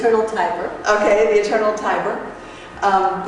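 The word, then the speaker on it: Tiber: director of T again we got to pronounce this right to say Tyber okay the Eternal Tyber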